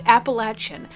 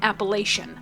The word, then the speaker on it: Appalachian: And yes, it's Appalachin. Quit saying Appalachian. I know that's how it's spelled, but it's Appalachin.